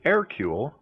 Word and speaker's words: Hercule: For example, I pronounce it Hercule without the H.